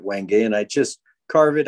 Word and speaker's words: wenge: these are little hearts this is wenge or wenge i guess some people call it but i have always pronounced it wenge and i just carve